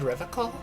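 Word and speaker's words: Revachol: He pronounces Revacol with a hard K, unlike other people. You said Revacol? I like to pronounce it the hard way. The old way. The Vespertine way.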